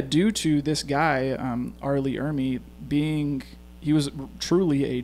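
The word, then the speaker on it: R. Lee Ermey: down here exactly uh yeah arleigh oh no arleigh ermey that's how you say it um but yeah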